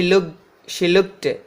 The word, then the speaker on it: looked: Next, she looked, this ed is t, looked, she looked at.